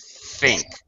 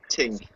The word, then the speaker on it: think: David yep uh uh pronunciation be careful of the th think think think tin no think don't be shy stick your tongue out okay tongue ah top teeth think think think better you're a lot closer